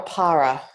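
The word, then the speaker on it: ParaYoga: Para or para? Para. Para.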